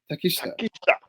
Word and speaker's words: Takeshita: How you pronounce his name? Takeshita.